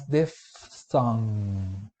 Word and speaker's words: diphthong: Notice how we pronounce diphthong. Diph with an F, and then th, which is technically a voiceless interdental fricative sound.